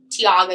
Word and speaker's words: Tiago: And I know like as far as like Tiago said, am I pronouncing that correctly? Yeah. Okay. As far as Tiago said, like, he's super into the visual aspects.